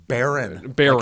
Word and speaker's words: Bierman: Baron. Like an oil baron.